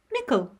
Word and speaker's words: mickle: of Michael our word of the week it is spelled m-i-c-k-l-e nickel and it means a large quantity or a